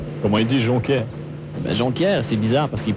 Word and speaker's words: Jonquière: Ben, Jonquière, c'est bizarre parce qu'ils prononcent Ronquière.